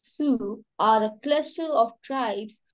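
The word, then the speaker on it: Sioux: bottom of that please yeah m'am the Su pronounced Su are a cluster of tribes who live in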